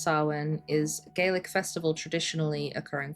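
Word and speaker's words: Samhain: Sam Hane saw okay way off approximately pronounced sen is Gaelic festival traditionally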